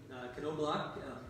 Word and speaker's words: Knobloch: weekend and have Sylvan Knobloch. He does pronounce the K on that, I'm pretty sure.